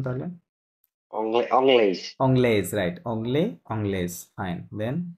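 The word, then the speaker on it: anglaise: এখান থেকে পড়েন, ফিমেলটা একসাথে জোড়ায় জোড়ায় পড়েন, এটা কি হবে উচ্চারণ তাহলে? অংলেজ। অংলেজ, রাইট, অংলে, অংলেজ, ফাইন।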